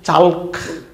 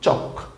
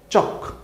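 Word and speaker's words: chalk: সাথে এ এল কে কি মনে হচ্ছে যে চালক সলক এরকম না উচ্চারণ কিন্তু চক স ক চক সি এইচ এ এল কে চক ইংরেজি এই চক শব্দের বাংলা অর্থও কিন্তু চক চখ কোনটা?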